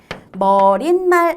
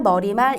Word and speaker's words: 머리말: 그리고 머리말. 머릿말 아니고 머리말. 인사말. 이것도 인산말이라고 알고 계신 분 있더라고요. 인사말. 그리고 제가 저거 놓쳤죠. 예사말. 이것도 얘 산말 아니고 예사말. 발음 자체에 발음으로 시옷이 들어갈 만한 근거가 없어요.